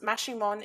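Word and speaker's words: Maximón: focusing on guatemala saint simon maximon pronounced mashimon in several mayan dialects also known as el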